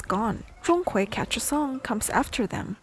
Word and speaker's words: Zhong Kui: And about the tones, the first syllable, Zhong, is flat, like a high steady note, ah. The second syllable rises, like a voice going up at the end of a question, ah.